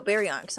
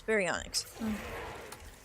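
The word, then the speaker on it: Baryonyx: Or no, Berionics, not Sucos. Baryionx.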